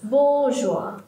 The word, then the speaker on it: bourgeois: one is long a, and we have got a stress mark here, yeah, on the syllable bo, right? You see here, bourgeois, bourgeois, and there are two long sounds, bo and ah.